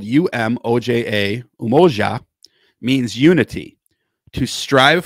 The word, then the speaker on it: Umoja: Number one, and this is spelled UMOJA, Umoja, means unity, to strive for and maintain unity in the family, community, nation, and race.